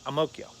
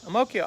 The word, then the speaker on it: Ang Mo Kio: I'm like, I'm not thinking that Ang Mo Kio is Amokyo. But he pronounced it that way. Amokyo.